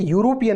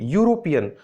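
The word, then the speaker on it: European: ऐसे ही अब यहां देखिए यूरोपियन, देखिए यूरोपियन में आप ई लेटर को मत देखिए, आप साउंड को देखिए। यूरोपियन, यू या साउंड है जो कि कॉन्सोनेंट है, इसलिए एक आर्टिकल का यूज किया गया है।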